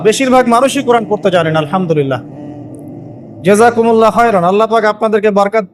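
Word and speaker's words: الحمد لله: আপনি পড়ছেন আল্লাহু আকবার, আলহামদুলিল্লাহি রাব্বিল আলামিন, এই তো আপনি পড়ছেন আলহামদুলিল্লাহ। শব্দটা কি? আলহামদুলিল্লাহ। এই হা এর মাখরাজ কোথায়? হা এর মাখরাজ কোথায় বলেন একজন? কণ্ঠনালীর মাঝখান থেকে।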